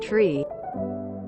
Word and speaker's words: three: is pronounced five and three is pronounced tree it's all done to